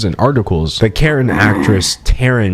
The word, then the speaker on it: Taryn: articles that karen actress taryn manning holy crap her name rhymes with karen she goes on and